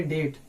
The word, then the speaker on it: debt: उसी तरह से इसको हम लोग यहाँ पे क्या है, बी साइलेंट है, इसको हम लोग पढ़ेंगे डेट, DEBT, डेट, डेट यानी कि कर्ज।